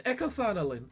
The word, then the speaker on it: echothanolin: Echo funny okay sorry let me try and pronounce it how she just did EK in car oline echofanolin it's echothanolin an energy source lobotomy Corporation